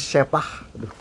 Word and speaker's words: Scheppach: Jadi bacanya Schepach. Schepach kalau bahasa Jawanya ini sepak.